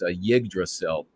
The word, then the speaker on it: Yggdrasil: This is Fjolnir killing Arvindil, and it's Yggdrasil, I guess is the proper pronunciation.